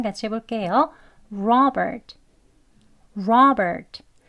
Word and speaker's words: Robert: 같이 해볼게요 Robert Robert 예이 끝에 오는 트 소리는 아주 약하게라고 해 주시고요이 이름 하나만 발음을 할 때는 끝소리 약하게 소리를 넣지만 대화 속에서는 Robert 이렇게 트 소리까지 넣어서 발음하지 않고요 대부분은 이렇게 으 하는 소리로 끝나 듯이 Robert Robert 이렇게 발음이 됩니다 그것도 알고 계시고요 다음은